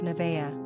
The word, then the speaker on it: Nevaeh: Pronunciation, Nevaeh. Simple meaning, heaven, spelled backwards. Characteristics of Nevaeh.